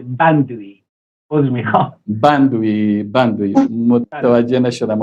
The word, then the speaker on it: بندویی: آقای مهندس مندوی عضو رهبری حزب مردم بلوچستان. امیدوار هستم که بحث خوبه و بحث تلفظ فامیل من با ب شروع میشه. بندوی.